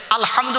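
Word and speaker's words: الحمد: আলহামদু গলার ভেতর থেকে এটা উচ্চারণ করবেন। আলহামদু মানে হচ্ছে সমস্ত প্রশংসা আল্লাহ তোমার।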